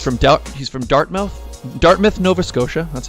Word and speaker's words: Dartmouth: doubt he's from Dartmouth Dartmouth Nova Scotia let's say you say it right Dartmouth yeah you got it you go I said dart melt at first but then I realized that's not corrects hey close enough